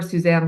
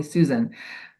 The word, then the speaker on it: Suzanne: because who can remember Suzanne nobody people can't even say it right they call me Susan all the time um which I'm not but I will answer